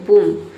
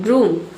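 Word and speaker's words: broom: English में बोलते हैं बूम बूम ठीक है ब्रूम ब्रूम बोलेंगे यहां पे आपको बी आर है ठीक है तो यहां पे ब्रू कर देना है आपको ब्रूम ब्रूम मतलब झाड़ू पोछा मॉप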